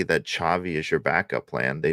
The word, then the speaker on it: Xavi: My point is, I think there was the conversations have already started, especially because I still think it's Xavi, which I'm now pronouncing right.